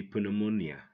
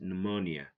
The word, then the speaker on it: pneumonia: don't say recept okay pneumonia don't say poo pneumonia it's pneumonia okay P is silent because it goes before s n RT number seven